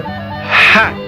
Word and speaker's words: hat: That is your hat. De novo a pronúncia no H. Hat.